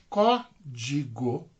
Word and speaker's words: código: Então, qual que é a mais forte? Código, né? Então, na pronúncia eu percebo que é a primeira sílaba aqui, ó, tá?